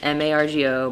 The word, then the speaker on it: Margo: It's M-A-R-G-O, Margo. No T, no A-U-X, no crazy shit.